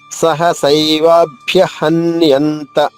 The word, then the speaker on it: సహసైవాభ్యహన్యంత: 3వ చరణము సహసైవాభ్యహన్యంత. సహస ఏవాభ్య. మామూలుగా అయితే ఇక్కడ గుణసంధి అనే సంధి జరగడం వల్ల సహసైవాభ్య అయింది. సహసైవాభ్యహన్యంత. వా దీర్ఘంగా, భ్యాలోని భా 2 భాలు అవుతుంది.